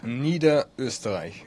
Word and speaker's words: Niederösterreich: And so how do you pronounce that Lower Austria? Niederösterreich.